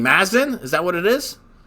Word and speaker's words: Muzzin: How do you pronounce this guy's name? Mazin? Is that what it is? Muzzin.